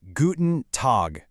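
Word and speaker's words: Guten Tag: Pronounced guten tog.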